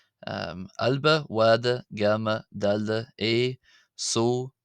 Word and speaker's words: ⲁⲗⲫⲁ: So uh these are how the letters are pronounced. We have alba, alba, wada, wada, gamma, gamma, dal, dal, a